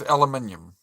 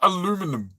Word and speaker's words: aluminium: My favourite thing anyone down under says is aluminium. Yeah, because it's not aluminum. It's how Americans say.